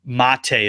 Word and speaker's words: Mate: So there have been jokes that Liverpool would be perfect for him because his middle name's already Mate, but it's Mate is the way it's pronounced.